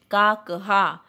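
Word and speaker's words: काकः: When I am saying काकहा, ha should not be written as h la kanha. No, it is विसर्ग to be pronounced. काकहा.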